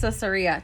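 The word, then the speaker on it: Caesarea: So, it's pronounced Cesaria.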